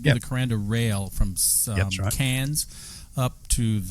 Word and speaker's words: Cairns: I know you've been working with us in the destination in Australia for a while, but it's not Cairns, it's Cairns. There is a silent R.